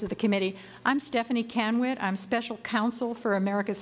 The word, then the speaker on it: Kenwood: Kenwood, am I pronouncing that correct?